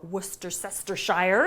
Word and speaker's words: Worcestershire: a little bit of Worcester sauce or Worcestershire if you want to try and pronounce it using all the letters on the label some oregano a real